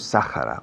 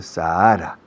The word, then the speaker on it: Sahara: Sahara, no decimos Sahara, we say Sahara, con H aspirada. Is there any snow in the Sahara Desert?